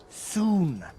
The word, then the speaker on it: Sun: Sun. It's soon. What? Dr. Soon rhymes with moon.